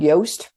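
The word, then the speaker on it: Yoast: we use uh it's called yast rhymes with toast and um it can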